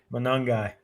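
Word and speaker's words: Monangai: Manangai.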